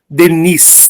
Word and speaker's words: Denis: São opcionais e estão todos lá no nosso YouTube, Educandário Leon Denis. Tem esse S no final, né, que não é pronunciado, mas se escreve com esse szinho aí no final.